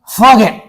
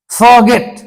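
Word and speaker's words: forget: रहे तब क्या करेंगे किसी भी शब्द के बीच में आर हो और उसके बाद अगर कोई कंसोनेंट रहे तो आर का उच्चारण नहीं किया जाता जैसे ए आर जीटी इसको क्या पेंगे आप फगेट फॉरगेट फॉरगेट नहीं आप किसी को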